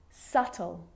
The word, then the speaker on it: subtle: dumb plumber and the letter B is often silent when it before the consonant T so think of these examples subtle depth and doubt so seeing all